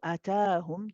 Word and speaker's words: أتاهم: very easy or common mistake is to drop this alif after the ta and say atahum. It's easy to miss. It's written small. So atahum. Just make sure your timings are right. A and then ta. Ta is longer.